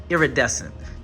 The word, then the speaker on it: iridescent: mow ball ones and it's pronounced iridescent that's what it was I saying I think I was saying indes or something like that I was saying it I know I was saying it wrong but iridescent so um